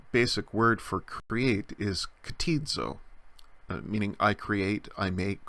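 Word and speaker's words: κτίζω: combination a little bit like the C T in the word act except that the C T sound is at the beginning of the word so it's kateed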